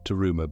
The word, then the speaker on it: Daruma: The Daruma doll, Daruma being the Japanese pronunciation of the Sanskrit Bodhidharma, is said to have